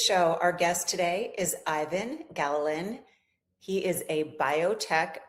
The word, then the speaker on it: Ivan: I pronounced your name wrong in the intro. Ivan, is that correct?